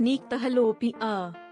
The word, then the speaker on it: nyctalopia: Night blindness, also known as nyctalopia, pronounced nyctalopia, is when you have trouble seeing in dim or dark settings.